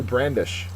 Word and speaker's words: brandish: bulk at number two brandish brandish is a verb the second syllable sorry the first syllable is accented it means to wave